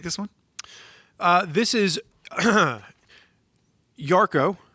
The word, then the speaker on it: Yarko: one uh this is yarko pronounced as it's spelled uh which is y-a-r-k-o